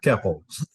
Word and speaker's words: Koeppel: Koeppel. Koeppel.